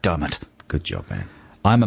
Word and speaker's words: Diarmaid: And I know it's pronounced Dermot.